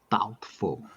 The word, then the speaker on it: doubtful: Next, doubtful. Doubtful. Very Doubtful. easy. That's very easy to pronounce, because the B is silent. So it's doubtful.